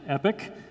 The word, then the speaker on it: EPYC: really compelling product in fact we named it epic for a reason so II pyc pronounced epic for those of you who haven't seen in